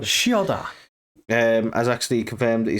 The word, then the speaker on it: Chioda: I wanted to go with a ch, but I was like, no, it's Chioda. Chioda.